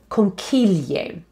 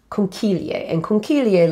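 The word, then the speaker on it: conchiglie: pasta that is called conquilier conchilier literally means little shells i'll spell it for you c-h-i in italian is pronounced with a k sound so key so con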